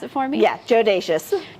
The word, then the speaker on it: Jodacious: But can you pronounce it for me? Yeah, JODACIOUS. JODACIOUS.